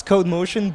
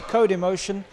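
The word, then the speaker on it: Codemotion: code motion code emotion is it code motion or code emotion it's code motion but is shared between the two yeah because I think the Italians like to pronounce vowels okay so it's code emotion um in Rome uh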